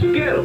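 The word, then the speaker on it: Goettl: Gallo. It rhymes with cattle, except it starts with a G and it's spelled really weird. Gallo.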